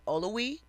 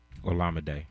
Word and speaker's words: Olowe: Um, listen and forgive me if I'm mispronouncing her name. Olamind Olawi Olawe. Ola Day.